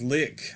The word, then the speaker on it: LIK: bit lately this is lick i believe that's how you pronounce it it might be like but with a mass funeral